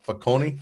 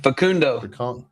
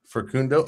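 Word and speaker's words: Facundo: Is it Fakonei? Fakundo Fkundo.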